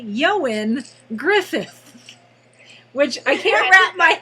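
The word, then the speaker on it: Ioan Gruffudd: If you look at his name and you don't know any better, it looks like Eoin Gruffydd, but it's Welsh, and therefore it's pronounced apparently Eoin Griffith, which I can't wrap my head around.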